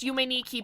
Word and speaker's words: Yume Nikki: I know that it's pronounced Yume Nikki, but that's too similar to the original.